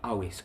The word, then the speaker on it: Amhuisc: The English phonetics for the Gaelic Amhuisc would be Awisk, so I'm fucking it up.